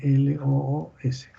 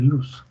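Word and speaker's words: Looss: Se escribe L-O-O-S, ciclo de luz, o de lo, si quieren pronunciarlo así.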